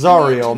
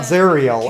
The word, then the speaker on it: Zariel: And yes, it is pronounced Zariel, not Zeriel.